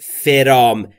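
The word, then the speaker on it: from: آمدن فرام یعنی از دقت بکنید نگفتم فرام بین اف و ر صدایی وجود نداره پس ما هم صدایی اضافه نمیکنیم فرام یعنی از یورپ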